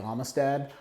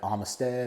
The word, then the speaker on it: Amistad: start off tonight with Lake Amistad or lake Armistead or Lake Amistad however you want to pronounce it it doesn't matter we're gonna go take